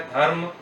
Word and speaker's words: धर्म: ऐसे ही धर्म जमा अर्थ, धर्म जमा अर्थ, म के नीचे हलंत नहीं है, और र का उच्चारण ध और म के बीच में हुआ है, धर्म, और इस वजह से